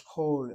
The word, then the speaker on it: kol: But notice it is CVC, and notice I'm saying the word as kol, as an O sound.